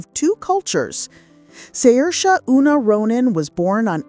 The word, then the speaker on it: Saoirse: The correct pronunciation is Saoirse, as the actress herself amusingly explained during a monologue on Saturday Night Live.